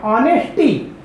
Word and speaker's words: honesty: तो उसी प्रकार से यहाँ जो ये ऑनेस्टी नहीं है, ऑनेस्टी, क्योंकि एच साइलेंट नेचर का यहाँ हो जाता है।